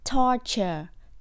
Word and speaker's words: torture: là sự tra tấn bo cong lưỡi jr nhấn âm or tor kor cong lưỡi nha torture torture từ gây ra you